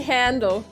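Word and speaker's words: Handel: It's actually handle. Yeah. A handle. No, but it's like fly off the handle, and it's like the German composer. Yeah, I know. It's pronounced handle.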